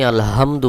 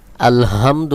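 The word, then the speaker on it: الحمد: এখানে যে হা রয়েছে এই হালকের মধ্যখান থেকে উচ্চারণ করতে হবে। হলকের মধ্যখান থেকে একটু চাপ দিয়ে উচ্চারণ করতে হবে। আলহামদু অধিকাংশ লোকে এটাকে ভুল উচ্চারণ করে বলে আলহামদু যখন আপনি আলহামদু বলবেন তখন কিন্তু এই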